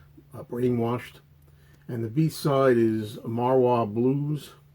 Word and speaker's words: Marwa Blues: And the B-side is Marwa Blues. I always say that wrong. Marwa Blues. I said it right, I think.